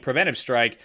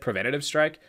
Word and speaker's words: Preventive Strike: This is better than the game I played last week, Preventive Strike. Actually, I didn't notice. I mispronounced it in the intro. I said Preventative Strike.